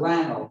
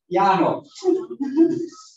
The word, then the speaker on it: Llano: Near the city of, we pronounce it Llano, but nobody down in Colombia pronounces it that way. Llano.